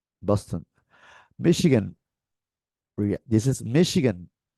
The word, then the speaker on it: Michigan: Maryland Massachusetts Massachusetts right Boston Michigan this is Michigan not not Michigan not Michigan listen repeat Michigan Michigan Minnesota Minnesota is the American pronunciation this is is Minnesota very very